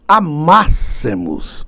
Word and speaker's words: amássemos: Se eu amasse, se tu amasses, se ele amasse, se nós amássemos. Olha aí a pronúncia correta, o acento no A da vogal temática.